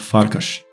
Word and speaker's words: Farkas: have names referencing wolves farcus means wolf in Hungarian and I believe it's pronounced farkash vilus is a typical